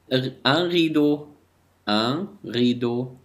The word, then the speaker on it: rideau: La prononciation اللفظ. un marteau un rideau un autobus un couteau un gâteau.